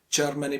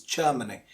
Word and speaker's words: Germany: least say Germany, but it's not Germany because the R is silent, because it is followed by a consonant sound after R. Next, after R there is a consonant, so it is Germany.